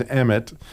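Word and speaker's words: אמת: And the word is emet, if you're going to pronounce it in Hebrew.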